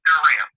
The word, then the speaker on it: Dyrrel: It's spelled Dyrrel, but it's pronounced Durrell.